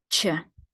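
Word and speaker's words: ч: in the middle foreign this is Che CH as in charger this one does look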